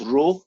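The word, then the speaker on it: rho: how I rate it is called raw so get eclair are each orbit you pronounce it like row you know this metal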